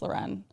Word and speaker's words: Lauren: No, it's spelled like Lauren, but it's pronounced Loren.